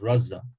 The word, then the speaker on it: Raza: harvey about this before my name is raza um it's actually pronounced razza but everyone calls me razor razza here in london